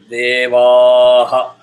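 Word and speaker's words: देवः: Vaha is that long because Visarga follows exactly the preceding syllable, which is Va. Va is Dhirgam, so Visarga also will have Dhirgam. Because it is Va, it is Aha. So that is where you say Devaha.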